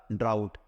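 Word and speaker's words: drought: ठीक है, तो इसको जो प्रोनाउंसिएशन करते हैं वो क्या करते हैं? वो ड्राउट करते हैं।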